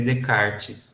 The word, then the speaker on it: Descartes: se escreve Descartes como se escreve Descartes mas se lê de karts na esquisito mas é